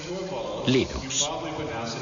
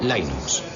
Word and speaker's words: Linux: pronunció libros sin embargo si fuese linus torvalds no hay duda de que lo pronunciaría linux claro que si uno es de la costa oeste de los eeuu lo más seguro es que lo pronunciaría line ucs pero a linus torvalds le importa un bledo como pronuncia es linux siempre y cuando lo utilices empecé a jugar